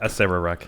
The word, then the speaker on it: Acererak: And in fact, as it says here, that's Akarak? I would pronounce Acererak? it Acererak, yeah.